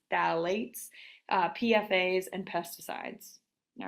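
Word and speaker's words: phthalate: I know that's a funky word but it's pronounced phalate uh pfas and pesticides all right so all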